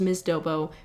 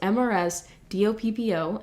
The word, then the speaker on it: MRS DOPPO: And I'm sure some of you guys are wondering, Casey, what the hell is Miss Dobo? Which is not actually pronounced that way. It's pronounced MRS DOPPO, and that's because it's my own personality type that I've created.